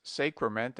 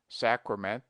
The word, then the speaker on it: sacrament: sacrifice he invariably says Sacrament and sacrifice with a very long a but analogy is against him we pronounced sacred with a long sacred but the derivations are properly pronounced with a short Sacrament sacrifice pronounce grandure Soldier